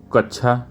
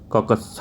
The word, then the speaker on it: कक्षा: शुद्ध उच्चारण बताइए तो कच्छा नहीं कक्ष भी नहीं होता क कछ होता है तो 12वें का